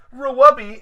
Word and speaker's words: RWBY: but everybody Rawabi is the correct way to pronounce it Wow so uh why